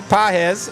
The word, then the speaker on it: Pages: You got Andy Pages, right? That's how you say it, not Pages. Pages. I believe so. A silent G.